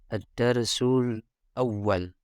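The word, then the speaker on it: الدرس الأول: Ad-darsul awal. Ini dibacanya ad-darsul awal. Kalau ditulisnya di sini ad-darsu dalam kurung angka 1.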